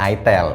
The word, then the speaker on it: itel: denger namanya tapi gini tulisannya Emang itel dibacanya itel mungkin mirip-mirip kaya iPhone